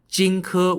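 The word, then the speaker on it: Jing Ke: of this is a man named spelled j-i-n-g-k-e jinku was a manku of a prince of the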